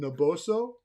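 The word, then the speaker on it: Naboso: created a new product on the market called Noboso. Did I pronounce it properly?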